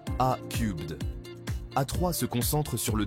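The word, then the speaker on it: A³: Airbus, leader mondial de l'industrie aérospatiale, participe activement au développement de solutions de voitures volantes par le biais de sa filiale A3, prononcée A-Cubed.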